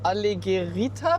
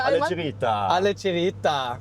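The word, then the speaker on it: Alleggerita: Bedeutet jetzt sitzen wir hier in dem, ich hoffe, ich spreche es richtig aus, allegerita Package. Das war sehr deutsch ausgesprochen, aber du hast richtig ausgesprochen. Richtig und auf italienisch bitte alle alle Gerita.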